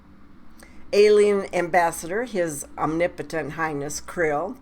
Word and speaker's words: Krill: was his omnipotent highness Krill pronounced k r i l l Krill in the American